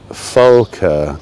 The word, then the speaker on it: Volke: Dem Deutschen with a V, but it's pronounced as an F. Volker.